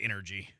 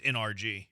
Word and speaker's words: NRG: I know it's not energy. I know it's NRG.